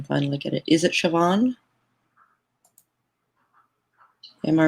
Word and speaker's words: Siobhan: That's how you pronounce Siobhan. Thank you, chat, for teaching me that. It makes no sense in Dutch, let me tell you.